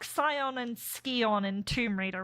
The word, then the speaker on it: Scion: It's like Scion and Skion in Tomb Raider, right? Like, you're not supposed to say it Skion, but they that's how they say it in more like Warrior, am I right?